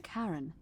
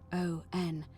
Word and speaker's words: Charon: The name you heard wasn't Karen. It was Charon, as in Charon, the ferryman of the dead.